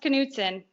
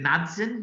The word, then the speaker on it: Knutson: Yep, it's pronounced Knutson. Aussies would just go, is it Knudsen, mate?